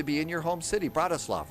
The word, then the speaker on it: Bratislava: Bratislava, right? Bratislava? The A is silent at the end.